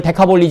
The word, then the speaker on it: 데카볼리: 데카는 10이고 볼리는 폴리스라고 그래가지고 폴리스라고 그래가지고 마을, 도시 뭐 이런 뜻이에요. 데카폴리. 그러면 왜 폴리스가 왜 비 발음 났냐고. 라틴어 때문에 그래요. 라틴어 때문에. 라틴어는 피 발음이 비읍 발음 나요. 그래서 볼리가 되는 거예요.